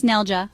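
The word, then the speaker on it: neljä: N nja means four say Nell like Nell from tunnel then add y it rhymes with day practice nelja four is like the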